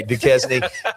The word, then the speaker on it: Duquesne: Is it pronounced Duquesne? Okay, Duquesne.